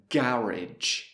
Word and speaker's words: garage: Personally, I would say garage. Garage. So now let's hear Brian. Garage. Garage. So again, 3 different pronunciations for the same word.